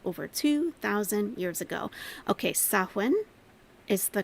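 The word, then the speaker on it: Samhain: back to the ancient Pagan Festival known as Sam Hayne celebrated by Celtic people over 2,000 years ago okay saen is the correct pronunciation okay saen saen okay and actually the the Shak say pronounced sawin sa okay so all right cool um by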